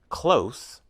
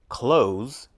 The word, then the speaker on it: close: they're used as verbs close with is an adjective for example I live close to school clothes with z is a verb for example can you close the window use with is a